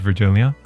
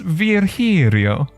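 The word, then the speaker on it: Virgilio: right we meet again bartender you look winded virgilia it's pronounced Verio Vero Verio it's pronounced virio now I'm pretty sure it's virgilia you said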